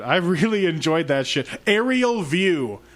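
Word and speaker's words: Ariel View: Aerial View, but it's spelled like the name Ariel. A-R-I-E-L.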